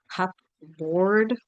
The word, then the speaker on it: cupboard: like this should be cup board so sorry in in American English we say cupboard and there's no P it's a silent P I'm sorry English spelling